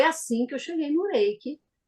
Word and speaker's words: Reiki: é Mônica eu vejo que você não fala re Reik como a gente fala você fala Reik né eik É É Reik